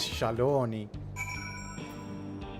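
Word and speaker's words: Shaaloani: In Japanese, at least, the pronunciation is Shaloni.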